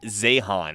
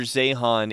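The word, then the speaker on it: Zeihan: one of his books so this is Peter zahan and zehan is spelled z-e-i-h-a-n and the book is uh the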